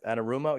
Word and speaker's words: Anarumo: candidate but what a phenomenal job uh lou annarumo or ana anarumo yeah that's how you pronounce it the defensive coordinator for the bengals